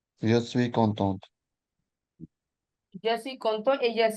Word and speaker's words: contente: So pronunciation will also change. It will be content, it will be content. Content et contente.